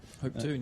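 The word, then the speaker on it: Hopetoun: Is that how you pronounce it? Hoptune.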